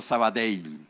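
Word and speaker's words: Sabadell: creo que el banco Saba dail porque así se pronuncia porque es Catalán ya es un gran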